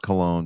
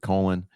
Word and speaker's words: Colon: know I know it's I know it's pronounced cologne but I'm just going with colon yeah he resigned on